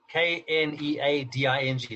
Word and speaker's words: kneading: we're going to discuss is needing k-n-e-a-d-i-n-g not n-e-d-i-n-g pronounced the same way it was called the homonym in english anyway this is where